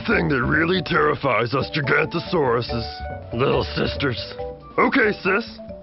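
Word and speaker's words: Giganotosaurus: You say my name like this, Gigantosaurus. It means giant southern lizard.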